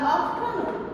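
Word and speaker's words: afternoon: এখানে যখন আফটারনুন বলবো ইন দ্য আফটারনুন, এখানে কিন্তু এই আরটা বানানোর সময় আসবে, কিন্তু যখন আমরা উচ্চারণ করব উচ্চারণের সময় এই আরটা সাইলেন্ট থাকবে, এই আরটা উচ্চারিত হয় না, এটা সাইলেন্ট থাকে।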